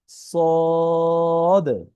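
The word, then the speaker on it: صاد: বাংলায় একটি শব্দ আছে তালব্য স, এই স এর মতো উচ্চারণ হবে, এখানে দীর্ঘিকার ন দিলেই শিন, শিন। তার পরবর্তী হরফ হচ্ছে হলো সদ, সদ।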